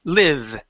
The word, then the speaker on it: live: So instead of lie leave, okay, it's I I li live.